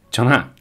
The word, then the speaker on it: Chungha: come scusi CHUNGHA LEI quindi non si legge la g CHUNHA va bene comunque CIUNGA per noi tipo i